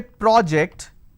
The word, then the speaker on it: project: When I say project, it's a noun. Did you finish the project? Now if you interchange this particular pronunciation, it leads to a lot of confusion. Can I say, can you please project it on the screen? How am I supposed to do that? I can project it on the screen.